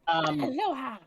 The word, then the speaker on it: aloha: Aloha.